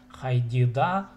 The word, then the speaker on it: хайдида: иді шуншам, шысқылыпшам азықтарымны, хайдида тырғақтарымны. Тут ударение сделайте на хайди.